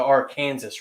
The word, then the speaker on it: Arkansas: river the arkansas river in kansas they pronounce it the our kansas river so but yet we're